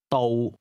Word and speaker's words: 道: 英皇， Here's the Cantonese word for road, which is pronounced with a low level tone. Listen and repeat. 道，道道 Say again, road.